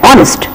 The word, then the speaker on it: honest: silent in certain words H is silent like in the words h n s but we are reading it as honest h n you are